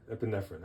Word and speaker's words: epinephrine: How do you pronounce this word? Epin, I think it's epinephrine. Epinephrine.